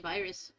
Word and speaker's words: Vyrs: because of my computer virus, obviously, but because it was the alias for my music. So it's it's spelled VYRS as a fancy name to say virus.